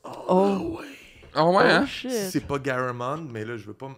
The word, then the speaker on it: Garamond: Garagemont. Garagemont. Toi, tu prononces Garagemont? Tu rajoutes des sons, des lettres.